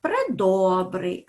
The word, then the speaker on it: предобрий: наголоси у цих словах предобрий наголос падає на О премили так літери е